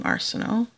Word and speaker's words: Arsenault: By Isabelle Arsenault. I can know how to pronounce that because I know somebody with that last name, Arsenault. That's a sort of a French pronunciation.